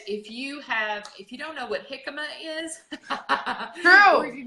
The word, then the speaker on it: jicama: Now that I've said that, I don't think that's how it's pronounced. Is it actually jicama? And he goes, yes, that's jicama.